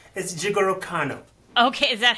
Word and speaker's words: Jigoro Kano: It's Jigoro Kano.